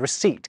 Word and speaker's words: receipt: It's through this process that plumber gets its silent B and receipt gets its silent P.